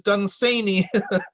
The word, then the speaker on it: Dunsany: First of all, I'm sorry to say it, but the pronunciation of his name is Dunsany. Oh, I didn't know is that. on the second syllable, not the first.